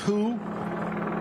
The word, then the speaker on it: Huu: as who as whoo. can. transcend and the way that's spelled is huu.